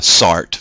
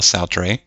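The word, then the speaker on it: Sartre: power couple pictured here this is uh jean-paul soutre uh you'll hear some anglica anglicanized pronunciations of his name as uh sart but more often is jean-paul sautre they were lifelong lovers both philosophers and uh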